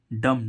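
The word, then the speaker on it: dumb: बी से पहले क्या जब भी बी से पहले ए आता है क्या आता है बी से पहले एम आता है तो बी साइलेंट होता है जैसे हम इसमें देखें डी यू एम बी डीयू एम बी डम डम मींस गूंगा अब देखो बी से पहले क्या आ रहा है एम डी से पहले क्या आ रहा है एम और ए एम आ रहा है तो बी क्या हो गया साइलेंट हो गया अगर जब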